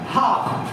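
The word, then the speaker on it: half: पर एल क्या है एल साइलेंट है इसको क्या पिएगा एच ए एल एफ क्या हो जाएगा हा क्या हो जाएगा हा क्या हो जाएगा ये हाफ तो इसको इसमें एल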